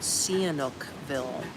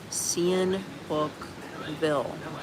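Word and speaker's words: Sihanoukville: It's um on the coastline is called Canukville.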